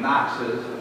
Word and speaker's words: NOx: the world oxides of nitrogen at the colonnade Knox's pronounced axes that concludes nitric oxide nitrogen dioxide and